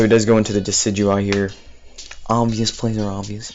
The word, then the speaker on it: Decidueye: Decadewey. Decidueye. I remember when people pronounced it Decadewey when it was first released.